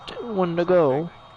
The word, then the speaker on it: Wendigo: Even though it's pronounced Wendigo.